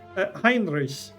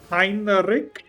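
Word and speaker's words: Heinrich: this alien parody and he called his xenomorph Hinrich but he pronounced it wrong. He pronounced it Heric and only only non-native speakers do that.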